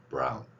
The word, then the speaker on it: brown: B하고 R이 겹쳐 있을 때 비읍 그리고 R, O 로 발음을 섞어서 그러니까 BR이 비읍과 로까지에 해당되는 발음입니다. 이 글자를 넣지 마시고 제가 개발한 글자 표기의 원리에 의해서 brown 이렇게 발음하세요. 자, 이거를 이제 연결시켜서 아운 발음을 연결해서 보도록 하겠습니다.